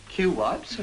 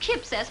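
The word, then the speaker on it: Cuyps: that way how do you say it not cue wipes no you pronounce it kip says before i see anyway it's wonderful even if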